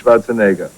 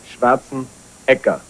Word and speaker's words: Schwarzenegger: Ecke, not Neger. Ecke. Because people pronounce it the wrong way here a lot of times. They say Schwarzenegger, which I understand because in English things are different, you know. That's Plus, they use the word so much in private, they just slip. They get confused, exactly. But it is actually, the right pronunciation is Schwarzenegger. That's the right pronunciation.